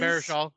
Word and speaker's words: Baruchel: Jay Baruchel yeah, is Baruchel.